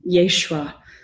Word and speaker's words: Yeshua: thinking a lot about Yeshua yeah the Hebrew pronunciation of Jesus and how Yeshua seems